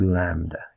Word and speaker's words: lambda: it lambda times my b this is called lambda if you wanted to spell it it would be spelt a l m